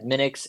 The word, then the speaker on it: Minix: news group, and it was Linus making his mini X kernel and saying, "Hey, do you guys want to work all night on software again?"